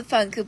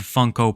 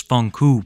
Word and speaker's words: Funko: Oh, I also forgot to tell you that she owns over a 100 Funko Pops that she pronounces Funkoo Pops.